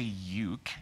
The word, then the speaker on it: uke: That sounds really funny, say no, ook. No, you would say uke, so that's where it gets confusing.